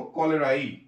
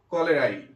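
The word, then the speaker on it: cholerae: হচ্ছে এই এটা সাইলেন্ট করে কলেরাই ইটা দিয়ে উচ্চারণ করব, ভিব্রিও কলেরাই। ওকে, ভিব্রিও কলেরাই, ভিব্রিও কলেরাই।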